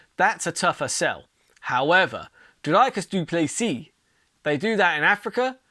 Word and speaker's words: Dricus du Plessis: You've got Robert Whittaker taking on Dricus du Plessis. The D, not the D, the S is silent.